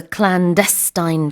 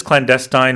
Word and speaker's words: clandestine: It was a clandestine tunnel. Yeah, so you can pronounce this clandestine or you can say clandestine as well. Both are accepted.